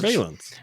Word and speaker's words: surveillance: Surveillance. Well, it is surveillance. Though. It is surveillance. That's how it's pronounced.